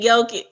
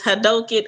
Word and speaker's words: Hadouken: I said Yoki. That's what it sounded like to me. Somebody said it's Hadoken or whatever, but I thought he said Hadouken!